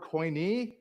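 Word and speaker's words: Koine: Right here is the word coin. And I'm just going to spell it out.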